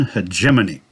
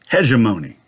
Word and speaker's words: hegemony: Jiminy Cricket as Uncle Sam, or Hegemony Cricket.